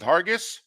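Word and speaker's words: Hargis: s we going with Hargus okay I'm going with a soft G sound instead of a hard G sound you know going Colin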